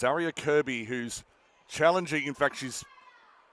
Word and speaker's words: Kirkby: Leilani and Jalia with with a bit of work to do, but Ariana Kirby spelled Kirkby normally pronounced Kirby, but apologies to the family.